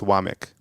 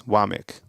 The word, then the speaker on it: Wommack: So it's Wamik. But it's spelled WOMMACK. But it's Wamik.